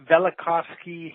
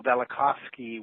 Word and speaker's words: Velikovsky: that pronounced bellick hacienda Velikovsky heresies okay so that v is kind of silent that's right it sort of is the man Immanuel Velikovsky was a friend and